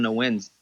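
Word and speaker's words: Nguyen: All the Vietnamese friends, those are like the most difficult last names to fucking pronounce and shit. I mean, 80% of them are on no wins.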